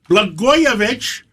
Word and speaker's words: Blagojevich: And we have former Governor Rod Blagojevich.